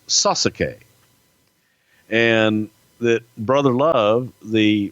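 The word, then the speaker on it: Sasuke: mortgage guy from Alabama pronounces his name correctly like they do in Japan it is sus aqui and that brother loved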